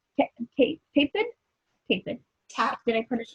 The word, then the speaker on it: Tapken: It's like tap dancing Ken doll. Oh, there. Tapken. Tapkin. Instead of saying napkins, just say Tapkin. There you go. Right. But there's an E instead of an I.